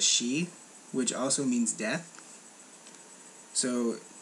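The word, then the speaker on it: 四: from over there because in japanese the number four can be pronounced as she which also means death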